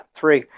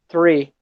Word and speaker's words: three: of a trick eu vale a pena salientar essa pronúncia de uma árvore em inglês porque vocês falam três em inglês free mas não é tri tri é árvore número três é free free free entendeu free a number